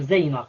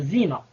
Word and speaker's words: Zeyna: Surtout que Zeyna, je ne pense pas que tout le monde va dire Zeyna, comme ça se prononce. Beaucoup vont dire Zina.